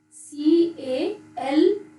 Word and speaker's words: calf: The adult cow and calf, C-A-L-F, calf. L is silent here.